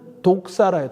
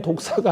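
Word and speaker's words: δόξα: 이것도 이 성경의 말씀에 이 영광이라고 하는 단어는 독사라요. 독사. 이게 뱀 독사가 아니고 이 헬라어 발음이 독사예요. 독사.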